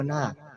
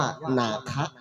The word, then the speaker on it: นาค: คือ โบราณ นะ ครับ แต่ ถ้า ใน ภาษา พระ ใน ภาษา บาลี น หนู สระอา ค ควาย จะ ไม่ ได้ ออก เสียง ว่า นาค จะ อ่าน ออก เสียง ว่า นาคะ นาคะ แปล ว่า ผู้ รู้